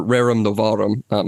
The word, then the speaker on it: rerum novarum: Rerum novarum, or rerum novarum. I guess if you're doing ecclesiastical pronunciation, you'd pronounce the V like a V.